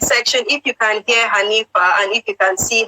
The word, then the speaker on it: Hanifa: So Shakiti Bobo is not Anita, it's Hanifa. Hanifa. Maybe I wasn't pronouncing it clearly. Hanifa.